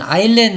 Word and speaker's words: island: 여기 있는 아일랜드 할 때는 이렇게 S가 여기에서는 이렇게 소리가 나지 않는 거니까 아이슬란드라고 하지 않도록 해주면 되겠네요.